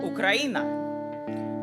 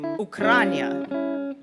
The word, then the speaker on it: Ukraina: to where I'm from, I would say Ukraina. Down south, they would say Ukrania. Sometimes to confirm, sometimes to correct my pronunciation.